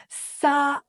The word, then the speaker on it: Southern: pronounce the word Southern try your best to pronounce it Like I Do sther by the way I'll include a phonetic guide